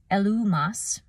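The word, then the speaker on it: Elymas: Now, Elimas was his born name. So in the Greek, that's pronounced Elumas, and that's an Arabic name for a Jewish magician or sorcerer, and it means wise man.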